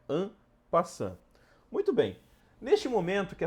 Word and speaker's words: en passant: do xadrez ampa Tá bastante gente chama ele de emp passante Mas a forma correta de pronunciar é an passan muito bem neste momento